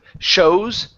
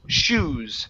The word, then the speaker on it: shoes: And this word here instead of shows, the word is shoes.